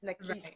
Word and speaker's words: Nikisha: My mama name no Nikki. It's Nikisha, you know. And if my mama pronounces it, it's not Keisha.